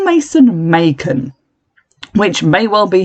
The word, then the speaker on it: Macon: But to my limey opinion, that is still a S sound.